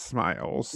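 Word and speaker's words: smials: I you pronounce them sme. Smeals, I think. Yeah, but it's smiles.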